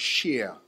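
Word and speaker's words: שִׁיר: uh that is in the hebrew that is pronounced sheer okay it basically means clean uh musicals abstracts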